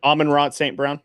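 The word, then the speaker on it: Amon-Ra St. Brown: Um Almond Roy that was how do you say his name? Alman Rott St. Brown.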